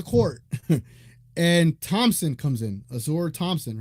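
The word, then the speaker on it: Ausar: shenon leaves the court and Thompson comes in Azor Thompson right that's how you say his name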